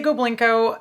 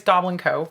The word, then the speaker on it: Goblinko: a goblin company uh a lot of people say go blinko that's okay i'm not offended about it but the correct pronunciation is goblin co we are a goblin